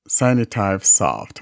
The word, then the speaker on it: Signitive Soft: by a developer called cyanotype soft that's s-i-g-n-i-t-i-v-e-s-o-f-t sinu-type soft or whatever while screen recorder is one of